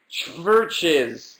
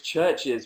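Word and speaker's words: Chvrches: since last Tuesday is churches which is churches with a V churches spelled with a V instead of a u are a a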